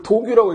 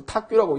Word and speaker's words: 탁규: 요거를 도규라고 읽지 않고 탁규라고 읽습니다.